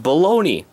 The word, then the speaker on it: baloney: honeysuckle tamakazi nah yes it is indeed pronounced baloney not balogna outlet play back huh